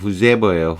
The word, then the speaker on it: whoever: 야, whoever 발음 주의해야 됩니다. whosoever가 아니고 whoever예요. whoever.